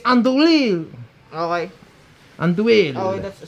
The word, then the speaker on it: andouille: It's pronounced andouille. Oh, andouille? It's my last name is, right? Yeah. So it's andouille. Andouille. Yeah. No, it's in American. It's pronounced andouille.